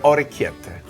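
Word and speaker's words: orecchiette: How do you pronounce this again? Brash under orete. Oriceta. Oreeta.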